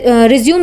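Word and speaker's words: résumé: हो तो उसके लिए रिज्यूम वर्ड यानी स्पेलिंग यही यूज़ होता है बट उसे रिज्यूमे बोला जाता है तो प्रोनंसिएशन अलग हो जाता है बट हम यहां पर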